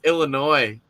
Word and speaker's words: Illinois: always corrects me it's illinois and i piss her off because i'm like oh so you mean illinois she's like i'm like illinois well i guess the s is silent but i always say